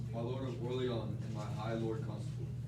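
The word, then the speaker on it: Orléans: Orly, well, I like to say it Orleans, like a Frenchman. My lord of Orleans and my high lord constable, you talk of horse and armor.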